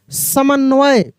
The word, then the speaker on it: समन्वय: साफ़ करने की आवाज़] स पूरा स है म भी पूरा है स म लेकिन न का उच्चारण तेजी से हो रहा है। इसका मतलब आधा न है व और फिर य क्या हो गया? समन्वय समन्वय के बाद लिखना